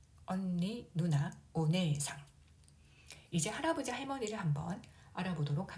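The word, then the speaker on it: お姉さん: 네에는 에 모음이 연속으로 와서 에 장음으로 발음하면 됩니다. 오네상, 오네상.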